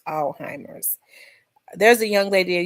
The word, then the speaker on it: Alzheimer's: She's a nurse, and she said it's they pronounce it Alzheimer's, but another nurse told me it was Alzheimer's, where the Z is silent.